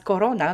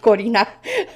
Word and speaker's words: Corina: it's still okay because many people pronounce my name as corona not korina so so it's it's